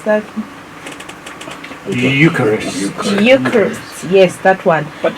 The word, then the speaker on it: Eucharist: is often called the H how do I pronounce that Eucharist Eucharist yes that one but you're the one